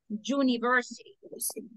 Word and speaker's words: university: Suena como que la esté pronunciando con qué. Con una J, digamos así. Entonces, en inglés, universidad is university. Entonces, se dice a university. Porque ahí va la pronunciación, no es university, es university. Como que la esté comenzando a decir con una consonante.